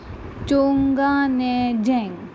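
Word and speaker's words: Chungneijang: Mary Kom, Chonganejang, that's how you say it.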